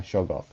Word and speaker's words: Shoggoth: That behind the mask there is actually a Sheergoth or a Shoggoth a Shoggoth. That's the right pronunciation.